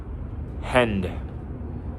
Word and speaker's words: hand: Hand. Can you hear the D sound that I'm making while pronouncing the word hand?